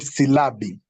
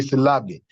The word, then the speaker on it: silabi: In Swahili, we call it Silabi. Not syllable. It should be Silabi.